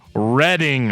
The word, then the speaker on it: Reading: I'm allergic to comment I'm kidding I love reading comments uh we got a we got a